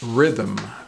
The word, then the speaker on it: rhythm: but ninth panther panther the next word is rhythm rhythm rhythm r-h-y-t-h-m rhythm is a strong regular